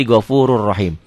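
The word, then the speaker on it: غَفُورٌ رَحِيمٌ: tanwinnya baca satu jadi gofurur rahim. Atau kalau Quran warna kan satu oranye, satu hitam. Jadi yang oranye nggak dibaca, yang dibacanya hitam. Gopurun rahim dibacanya jadi gofurur rahim.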